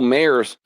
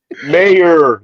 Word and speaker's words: Mayer: At least say his name right. Michael Mayor said it right. Mayor, there's no S.